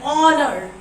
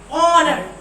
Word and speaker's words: honor: An hour, an honor, an honest man. In all these examples, you can see the first letter H is silent.